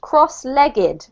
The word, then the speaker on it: cross-legged: This one here is pronounced cross-legged.